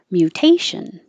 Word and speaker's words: mutation: party was formal dress mutation this is another mew so your tongue starts in a high position mew mutation jewelry we don't say jewelry